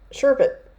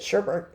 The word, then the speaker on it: sherbet: Sherbet. I don't know why the English language doesn't just stick an extra R in there. Everybody pronounces it sherbet.